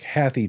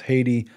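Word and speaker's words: Hathi: as the haiti trust it looks like happy trust but they say it's pronounced haiti much like the country and it's a reference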